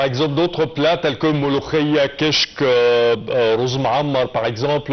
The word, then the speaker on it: molokhia: Même les Fatimides connaissaient par le nom molokhia, parce que c'est plutôt le K, pas le Kra. Les Européens ne le prononcent pas comme nous avec le Kra.